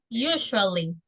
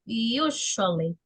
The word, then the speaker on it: usually: Usually. That's the pronunciation. You. Como cuando dice you del sujeto. Usually. Usually. You. La S se pronuncia así. Shh, como de cuando uno le dice a alguien silencio.